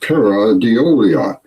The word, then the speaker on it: pareidolia: There's even a word for this phenomena, pareidolia, pronounced pareidolia.